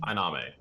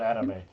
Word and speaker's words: Aname: And it's James Aname, right? Of Nan Station. Aname. Aname. Okay, perfect. Not anime on anime.